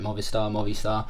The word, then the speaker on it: Movistar: And I hope I'm pronouncing that right. Movistar.